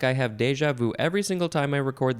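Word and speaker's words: déjà vu: of page 329 is it's a good one deja vu I guess some people also say more Frenchy deja vu deja vu it is spelled d-e-j-a that's the first word and the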